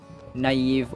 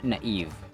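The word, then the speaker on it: naïve: enemy of Excellence mediocre another requested word is naive or naive naive or naive you can notice that the eye has two dots above it they are called umlots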